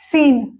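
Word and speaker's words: scene: देखिए सी के साथ जब हम एस सी ई एन ई सीन यहां पर यह साइलेंट हो गया।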